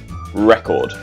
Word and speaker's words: record: record for record breaking a record the stress is the first syllable record record so so the